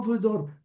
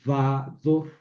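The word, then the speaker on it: וָדֹר: ¿Por qué no vedor? Porque como es sílaba acentuada, esta prefiere en vez del sheva una kametz. Entonces, vador.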